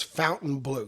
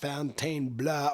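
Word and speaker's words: Fontainebleau: vital Vegas breaks it the official pronunciation is Fountain Blue good old American Fountain Blue not Fountain blah or whatever we you know so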